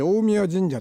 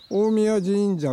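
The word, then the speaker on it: 大神神社: あの大神あれは大神神社と入らないで大宮神社って言うんですねあのう大上ていう風に書いてありますけれどもこれはまあ大神と読むそうです大宮神社 6 です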